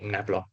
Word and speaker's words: Nabla: Okay, find the function psi of x and y such that Nabla, okay, the upside down triangle, is called Nabla.